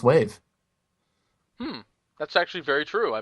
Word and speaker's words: WAV: know it's strange because some acronyms you actually pronounce but others you don't for example take avi you don't pronounce it av but wav a wave file you pronounce wave that's actually very true